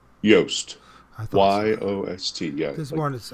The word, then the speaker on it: Yost: john how do you say your last name yoast y-o-s-t yeah this one is i i thought